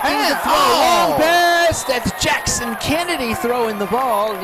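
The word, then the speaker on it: Jaxson: kid Action Jackson can it's spelled j ax s o n like Jackson Chipley yeah you know you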